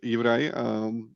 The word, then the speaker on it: Juraj: Did I pronounce that correctly? Please correct me if So, hi, my name is Juraj.